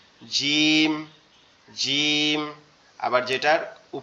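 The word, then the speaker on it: ج: এটাকে আমরা বলবো জিম।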